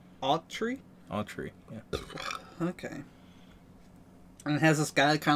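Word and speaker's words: Autry: dyslexic yeah well how do you think you pronounce that a u t r y a tree a tree yeah okay and it has this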